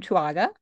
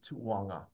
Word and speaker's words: Tuuaga: last name so yeah I have two U's and two A's in there and believe me you'll hear every single one of them I love it well